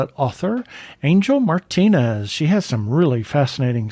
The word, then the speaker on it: Martinez: and I you notice I use the proper Spanish pronunciation of Martinez how many times you get Martin Martinez Martinez oh my god you know